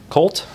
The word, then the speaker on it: CVLT: And then Kavt Colt, I know it's pronounced Colt, but Covt is designed by design team like I was saying, Ash Hanschild and Taylor Fontaine.